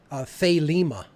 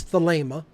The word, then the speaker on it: Thelema: say it as a fait Lima and it's the Leymah if you're pronouncing it correctly from the original Greek and um how he